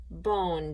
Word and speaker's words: bone: That's right, we add a silent E to the end, and then bon becomes bone, doesn't it?